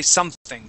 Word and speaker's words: something: anything was perfect okay your th was great but something you had said something and used more of a t sound so let's say something try that okay something